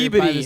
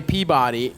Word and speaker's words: Peabody: Manchester by the Peabody, sea. huh? Yeah. And I said it right, too, motherfuckers. Yeah. 'Cause I used to say Peabody, which makes more sense, but...